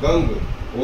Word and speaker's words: गं: गण के आदि अर्थात ग का पहले का उच्चारण करें। उसके बाद वर्णों के आदि अर्थात अ का उच्चारण करें। उसके बाद अनुस्वार उच्चारित होता है। इस प्रकार अर्थ चंद्र से सुशोभित गंग ओमकार से अवरुद्ध होने पर तुम्हारे बीज मंत्र का स्वरूप ओम गंग है।